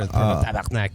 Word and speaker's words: tabarnak: You have it right with the rolling of the R. Tabarnak.